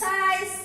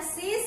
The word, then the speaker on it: size: Size ya, bacanya size kayak gitu. Nanti kalau yang bacanya sis itu beda lagi tulisannya.